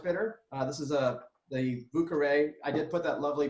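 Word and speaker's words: Carré: of an orange bitter this is a blue Caray I did put that lovely pronunciation for everyone but-- kar rahe but it also means French Quarter it's an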